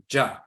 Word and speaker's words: Gya: In Ghana, they'll spell it G-Y-A, Ja.